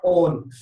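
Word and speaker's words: -one: Suffix use करते हैं ओन, लिखते वन है, पढ़ते ऑन है ना, प्रोनाउंस क्या करते हैं ओन, लिखते क्या है, क्या वन।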